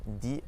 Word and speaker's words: dix: So for instance, we have the word cadeau and dix voitures. Dix voitures. So we don't actually pronounce the X there.